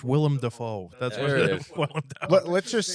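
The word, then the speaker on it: Willem Dafoe: that's real there it is it's called It's pronounced William defo that's let's just say though let's say tomorrow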